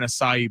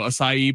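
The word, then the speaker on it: açaí: There's like a little accent on the sea. I think it's acai.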